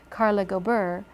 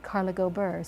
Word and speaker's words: Carla Gober: First, Carla Gober, it has a more rolling sound, Carla Gober. So you're not stopped in the middle.